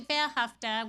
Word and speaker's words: Ve'ahavta: it means and actually behafta which is how it's pronounced is actually a Hebrew word and it comes directly